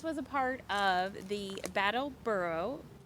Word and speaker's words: Brattleboro: Do you want to tell about the this was a part of the Brattleboro. Am I saying it right? Brattleboro. Okay. They put those R's in weird spots.